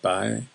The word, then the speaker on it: boy: In County Down, where I live, you'd be more likely to hear the word boy, though it'll be pronounced by, as in, "How's it going there, by?"